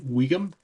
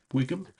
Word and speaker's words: Wigan: Um We even at one point, one town we went to was um Wigan, Wigan.